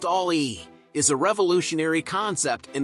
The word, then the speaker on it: Ami: hot rod Hobby citran Ali the Citron Ali pronounced Ali is a revolutionary Concept in the world of